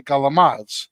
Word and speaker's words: calamari: So, Capacul uh like like calamari in New Jersey, we would say galamad. Yeah, that's the way Italian Americans say it because it was passed down from them saying it incorrectly.